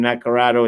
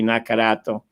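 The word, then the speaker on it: Nacarato: it here the lucci the same thing with my name nacarado it's really nakarato so if you could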